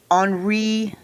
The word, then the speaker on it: Henri: And he also he himself took to spelling his first name with a Y. It's normally spelt with an I in French, but he changed it.